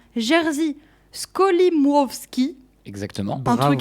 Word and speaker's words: Jerzy Skolimowski: Je vous parle de I.O., qui s'orthographie E-O, un film de, attention pour la prononciation, Jerzy Skolimowski.